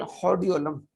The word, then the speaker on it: hordeolum: जाता है external, external हॉर्डियोलम, external horror हॉर्डियोलम, हॉर्डियोलम, external हॉर्डियोलम। आर को आपने साइलेंट रखना है या आर की आवाज बहुत कम आपने निकालनी है, एक्सटर्नल हॉर्डियोलम।